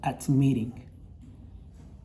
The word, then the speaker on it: admitting: la hora de pronunciarlo, suena más fuerte esta última sílaba, la sílaba final, duplicamos la última letra y agregamos la terminación ing. Y nosotros lo leemos como admitting.